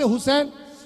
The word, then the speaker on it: हुसैन: He becomes Yazid but when the same people make a mistake in pronouncing the name of हजरत इमाम हुसैन हुसैन becomes हसीन हुसैन बिक you know why because they don't put पेश एंड ज़बर ज़ेर।